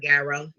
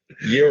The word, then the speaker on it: gyro: My gyro. Girl, you so Chicago. It makes sense. Oh my She was God. supposed to I say want y'all. Euro. Euro. Thank you. That is the correct pronunciation.